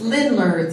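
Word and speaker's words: Ländler: It's Lindler.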